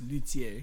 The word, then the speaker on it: luthier: And if you want to go back to the being French, it's pronounced luthier.